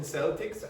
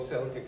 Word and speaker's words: Celtic: But if you're describing the culture, you would say Celtic. And the reason you do that, usually in English, CE is pronounced S. But the reason this is K is because it comes from the Irish language.